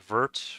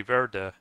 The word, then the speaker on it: vert: Ver. Ver, yeah. Yeah, they don't pronounce the T.